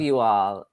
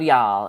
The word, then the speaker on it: y'all: And I think the first time I said it, I actually said love you all, and then Kim helped correct me to know that the proper way to say it is love y'all.